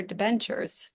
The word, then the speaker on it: debenture: Can you tell us a little bit about our debentures? And I don't think I'm saying that right. No, you're saying it correctly.